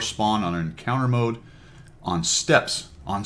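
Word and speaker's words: Steppes: That is how you pronounce it, I'm pretty sure. Fix me if I'm wrong. I know it's not the way you pronounce it. That goes back a long time. Some of the older subscribers may remember that. It was actually a platoon mate of mine. He actually thought it was called Steeps.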